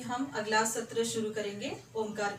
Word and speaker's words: ओम: ओम यानी 70% उसका उच्चार चाहिए और म का उच्चार जो है सिर्फ 25% होना चाहिए। ओम अभी हम प्रार्थना मंत्र करेंगे।